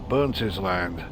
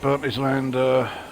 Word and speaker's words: Burntisland: are approaching the station Burntisland, and I found out at long last that, yeah, it is pronounced Burntisland, not Burnt Island.